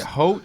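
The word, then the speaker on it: Haute: Is it Holt? That's how you pronounce it, Holt.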